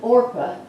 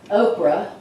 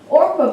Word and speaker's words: Orpah: and her daughter-in-laws ruthyn Orpah and everybody was going to say Oprah but that's how I forgot her name somebody's pronounced it wrong and it focused on